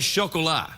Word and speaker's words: Chocolat: the rum diaries and chocolate oh how did you pronounce that what how do you say that word Chocolat it's a French word for chocolate oh okay I didn't